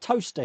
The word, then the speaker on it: Towcester: Like we've got Toaster here. We've got a place called Toaster, but it's spelled Towcester, so it's Towcester, but it's pronounced Toaster.